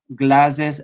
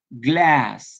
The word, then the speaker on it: glass: pronuncia Ah Es bueno la pronunciación exacta en inglés es glass en América en el inglés de